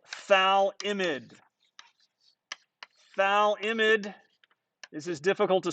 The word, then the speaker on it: phthalimide: the gabriel synthesis uses a molecule called phthalimide valimid is as difficult to spell as it is to say it's spelled p-h-t-h-a-l-i-m-i-d-e thal imid is relatively acidic it has a pka of